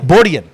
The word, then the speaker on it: Borjan: Don't mess up the J. My wife's going to kill me. It's a Y. It's a Y. It's a Y. Borjan.